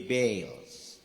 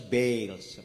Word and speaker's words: Baals: Lord and served the Baals. Ang uban mo basa na Baal. Okay? But actually, it is pronounced as Baals. Basta double A gani mo na siya i-pronounce na ito nga prolong A.